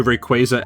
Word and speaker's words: Rayquaza: Plus that epic final battle with her and Rayquaza, or I'm sorry, Rayquaza as it's supposed to be pronounced, but I'm always just gonna say Rayquaza.